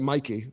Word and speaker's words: Mikey: Or is it Mikey? Sorry, there's no C. It's just it's it's Mik.